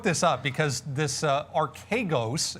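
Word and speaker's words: Archegos: up because this uh archagos is how you actually pronounce it phonetically it's uh a-r-k-a-y ghost uh the hedge fund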